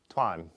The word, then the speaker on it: Tuan: uh Juan you said sounds like one with a t so Tuan Twan uh enjoying the videos